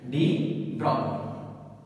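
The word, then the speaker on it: de Broglie: Name बता रहा हूं, डी ब्रॉग्ली। स्पेलिंग पे मत जाइएगा, डी ब्रॉग्ली।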